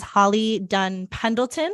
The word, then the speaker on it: Holly Dunn Pendleton: Holly Dunn Pendleton.